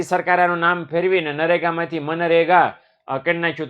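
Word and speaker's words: MGNREGA: અહીંયા તમે વાંચવા જાઓ તો મગનરેગા થાય છે. મગનરેગા. બરાબર. આપણે મગનરેગા થોડું બોલાય. એટલે આપણે મનરેગા બોલવાનું. શું બોલવાનું છે? મનરેગા. જી સાયલન્ટ છે એવું સમજી લેજો. तो बराबर जी ये इधर जी साइलेंट है, समझने का.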